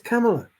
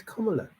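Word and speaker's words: Kamala: the videos where they chant her name it's camela she never once went oh you got call me camela my name's KLA it's these other people that are like oh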